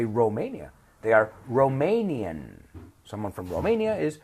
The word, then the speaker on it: Romania: is Chilean someone from Romania with an O in English in Spanish is Romania right we say Romania they are Romanian someone